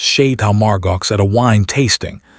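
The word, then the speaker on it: Château Margaux: The time she had mispronounced Chateau Margaux at a wine tasting. She said Margie Wox, he demonstrated, and Candace actually covered her mouth.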